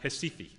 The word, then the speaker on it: Recife: It's pronounced Recife.